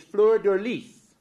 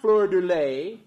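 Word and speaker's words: fleur-de-lis: Now, the correct way of pronouncing it is fleur de lis, not fleur de lay, not the fleur de lay, and there's several other ways that people say it.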